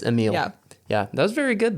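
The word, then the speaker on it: Émile: yes yes what is Remy's brother's name oh emo super close close is it is it Emil is that how you pronounce it it's Emil yeah that was very good though and final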